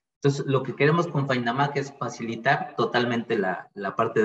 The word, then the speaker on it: Faindamaq: Que lo puedan pronunciar tal cual se escribe, FindAMac.